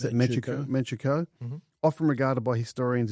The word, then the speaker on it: Manchukuo: 1931, Japan invades Manchuria, established, how do you pronounce it? Manchukuo.